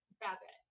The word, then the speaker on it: Babette: I heard Eric say, is it pronounced Babette? Babette. Bad like the sound of the sheep. Babette. Like you're betting.